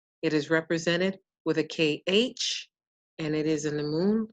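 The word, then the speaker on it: خ: The letter is pronounced kha, kha.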